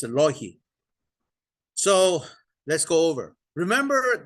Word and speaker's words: Loihi: And the Intel was called Loihi. I don't know, some people pronounce it Loihi, but it's actually nothing to do with Hawaii. Okay. So it's a Loihi.